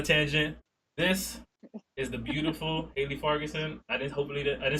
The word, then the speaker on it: Haley Fargason: This is the beautiful Haley Fargason. I didn't say your name wrong, right?